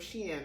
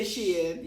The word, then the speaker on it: Shein: it's the male version of Shein, right?